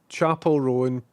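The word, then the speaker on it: Chappell Roan: Um, Chapel Rowan pronounced like a chapel and Rowan almost like chaperone.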